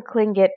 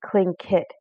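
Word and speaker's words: Tlingit: was a clingit indian pronouncing clingit proudly with a clicking of his tongue as if today to say cling kit he was built like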